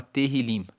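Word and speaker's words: Tehilim: O livro de Salmos no hebraico se chama Terilim. Se escreve T E H I L I M E Terilim significa louvores.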